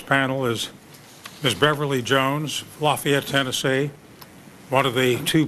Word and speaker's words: Lafayette: My name is Beverly Jones, and even though Chairman Specter pronounced it Lafayette, where I'm from, it's Lafayette, Tennessee.